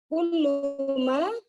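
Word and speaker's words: كلما: Kullama Kullama. Kullama. Tasdid ya Ustaz ya.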